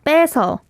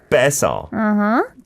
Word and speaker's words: 빼서: Right, but it has to be 빼서. 빼서. 빼서. Just 2 syllables.